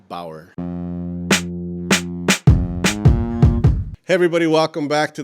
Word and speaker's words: Bower: Bauer. Thank Did you I for pronounce having that me.